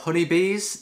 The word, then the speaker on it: Hunybees: Okay, so first up we've got Hunybees. That's spelled H-U-N-Y-Bees, like the animal bees.